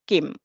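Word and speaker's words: CIEM: entitlement management or I as as it is pronounced Kim Defender cloud is now integrated with our Kim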